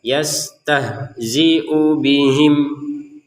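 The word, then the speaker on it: يستهزئ بهم: Nah, langsung ke yastahziu bihim. Jadi antara u dan bi di sini harus digabungkan. Jangan karena ada di bawahnya.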